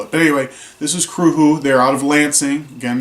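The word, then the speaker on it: Cruthu: the band's name is Kru who it is not spelled at all how it is pronounced it is a Gaelic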